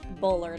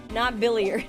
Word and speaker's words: Bullard: Bullard, not Billiard, like what she was saying.